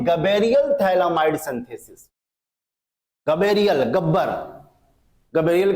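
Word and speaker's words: thalidomide: साथ जुड़ा हुआ है उसी को बोला जाता है थैली माइड पीच साइलेंट होता है अब कैसे थैली माइड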